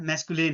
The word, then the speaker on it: masculine: जब इस इसका करेक्ट प्रोनाउंसिएशन मैस्कुलिन है।